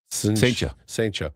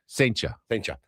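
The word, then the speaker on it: Cijntje: How do you say it? Saintja. It's C-L-I-N-T-J-E. No, it's C-I-J-N-T-J-E. No, there's no L. It's an I. No, it's not. Saintja.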